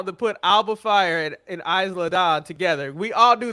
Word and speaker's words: Isla: Like, they finally figured out how to put Alba Fire and Isla Dawn together. We all knew they were a better tag team to be a rival. Stop pronouncing the S.